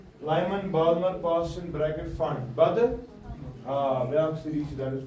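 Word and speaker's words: Pfund: अब ये क्या अभी फंड यार, ये साइलेंट पी है, ये पी डॉट फंड नहीं है, ये फंड है।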